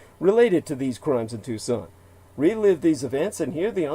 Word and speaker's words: Tucson: That's Tucson, well, spelled like Tucson, Tucson, put the word "the" in